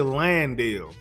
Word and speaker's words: Landale: Everybody be saying his name wrong. I don't understand why it's so hard to say Landale.